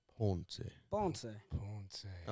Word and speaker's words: Ponce: You have to say it like Ponce.